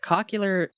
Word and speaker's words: cochlear: Do you know what helps me with the pronunciation of cochlear? You don't want to say The way- cochlear? The way George W. Bush says nuclear.